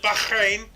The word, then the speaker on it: Bahrain: its Constitution and that's uh that's how you pronounce it Bahrain you know you got to get the Fleming